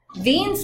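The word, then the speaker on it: Wien: so those two things beans law the w s-- pronounced as a v germany was the one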